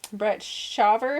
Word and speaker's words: Brett Shaver: Brett Shaver. Is that how you say it? Yes.